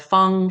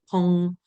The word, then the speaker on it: Fong: So Fong, actually, there isn't too much variation. You can see that it's pronounced and spelled Fang, Fong, Fang, Pong, which all sort of sound the same.